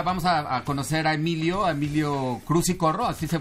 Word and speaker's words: Cruz y Corro: Pero, pues pues nada, ahorita vamos a conocer a Emilio Cruz y Corro, así se pronuncia, ¿no, Emilio?